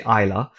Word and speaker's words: Islay: So Islay is spelled Islay, Islay, but you say Islay.